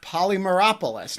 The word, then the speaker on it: Polymeropoulos: of those people mark polymeropolis now did i pronounce your name correctly you did pronounce it correctly that's very good so